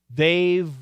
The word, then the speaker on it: they've: got they won, but you left out the V, and we got to catch that. I want you to catch it. They've won. And what happens is this V actually links over.